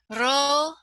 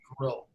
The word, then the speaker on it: rho: You don't trill the Greek rho. It's just Okay. It's just an R.